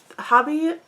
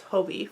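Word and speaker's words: Hobbii: three millimeter needles um hobby hobie it's hobie with a long o sound i've tried to remember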